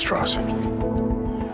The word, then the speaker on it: Strauss: Mr. Strauss. It's pronounced Strauss.